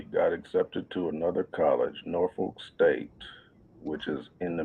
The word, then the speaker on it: Norfolk: Now, I would say Norfolk, but I learned that when I was down there that's not how you say it. So I was trying to Mhm. get the little twang and say it like they say it in that region.